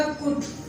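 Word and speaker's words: could: तो जब भी ओ, यू और डी के दरमियान में एल आएगा तो आपका एल कंसीडर किया जाएगा साइलेंट, जैसे कुड, वुड, शुड। कूल्ड, वुड, शूड नहीं होगा।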